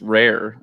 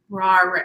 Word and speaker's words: Rahr: I'm like, Rahr. No, it's rare.